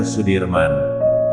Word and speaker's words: Sudirman: Jenderal Besar Sudirman menurut ejaan Suwandi dibaca Sudirman.